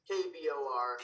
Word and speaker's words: KBOR: KBOR.